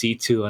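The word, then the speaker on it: C.C.: green hair girl yes cc it's actually pronounced c2 and i'm like what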